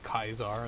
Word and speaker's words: Caesar: going far new vegas they pronounce his name kaisar as well we read our classics and they are set you know it's pronounced with a k like if yeah like